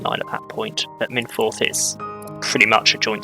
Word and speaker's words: Machynlleth: And then as we carry on down, we end up at Machynlleth. I believe is how it's pronounced. I think I know how that one's pronounced. I believe it's Machynlleth.